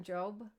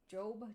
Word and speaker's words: Jobe: find another one by kieran jobe jobe j.o.b i i believe that's how she pronounces her name kieran jobe and i'll